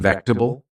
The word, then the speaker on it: vegetable: They gently said, "Do you mean vectable?" I was confused. I didn't hear the ta sound. I asked again and they said slowly, "It's pronounced vectab, not vegetable."